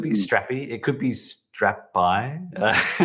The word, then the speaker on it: Strapi: mean it could be strappy it could be strapped by right now that's right drew what's the name mean is there anything behind the str yeah we we pronounce it strappy okay but yeah if you want to pronounce